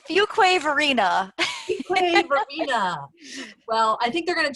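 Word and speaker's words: Fuquay-Varina: the plant lady Arthur all the way from Fuqua North Carolina did I say it right it's Fuquay Varina well I think they're gonna change it to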